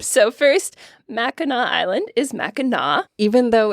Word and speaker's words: Mackinac: So first, Mackinac Island is Mackinac. even though it's spelled Mackinac, and you leave to go to Mackinac Island from Mackinac City, which is spelled exactly how it sounds.